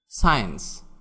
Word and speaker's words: science: সায়েন্স, SCIENC, এখানেও সি এর উচ্চারণ হবে না।